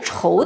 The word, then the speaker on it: 仇: 仇字儿，这个字呢有两个读音，念仇的时候啊是对手的意思，而念求的时候就通求字，就是